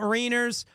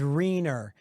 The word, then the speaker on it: Rainier: I thought it was Rainier. Then I was told it was Rainier. And then I heard it was Renar.